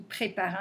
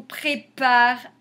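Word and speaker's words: préparent: qu'ils font pré y prépare un sac donc c'est l'action quand le verbe est au pluriel on met ent mais on ne prononce pas en prononcent eux donc les gars on prépare un sac maillot la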